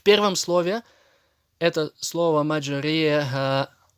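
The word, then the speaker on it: مجراها: В первом слове это слово маджриха, и этот знак указывает на ималя. И читается она между и е.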